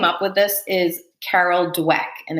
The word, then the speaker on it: Dweck: person who came up with this is Carol dweck and it's spelled d-w-e-c-k if you want to look her